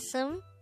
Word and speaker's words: 습: a b character but do take note that this is pronounced as sum because the b character is followed by a neon character on the next syllable and then syllable ni